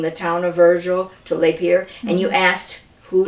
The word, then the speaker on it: Lapeer: I think it's like some people say Lapeer, some people Lapeer, and then we say we people who grew up here we say Lapeer.